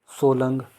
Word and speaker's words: सोलंग: पार्वती मलाना सुजोय फौजल सोलंग सोलन नहीं है ये सोलंग है इसमें काफी मिस्टेक हुई है इसकी सोलंग है यह सोलंग आपने मेरी प्रोनाउंसिएशन पर ध्यान देना है। लिखने में अगर गलती होगी तो उसके लिए मैं क्षमा चाहूंगा।